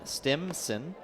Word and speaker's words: Stimson: That's not with a P, it's with an M. Stimson.